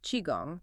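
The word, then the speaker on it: qigong: First up, the movement practice of chiong, pronounced chiong.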